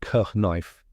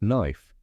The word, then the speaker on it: knife: the spelling stuck so now we don't say k knife just knife isn't it funny how